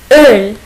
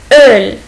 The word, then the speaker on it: Öl: C'est O umlaut. Il se prononce comme un E. Öl. Öl.